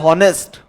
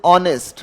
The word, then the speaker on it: honest: तो अब भले ही कुछ लोग अगर इसको बोलते हैं जैसे हॉनेस्ट, बट इसका प्रोनाउंसिएशन हॉनेस्ट नहीं है। आप इसको सही से उच्चारण करोगे तो दिस इज ऑनेस्ट। क्या है? अब ऑनेस्ट मैंने बता दिया और आपको पता चला कि इसका सही प्रोनाउंसिएशन ऑनेस्ट है, तो ए या एन?